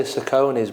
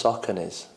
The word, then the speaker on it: Saucony: So, running trainers, I quite like and I say Saucony's, but I've just realised it's Saucony's.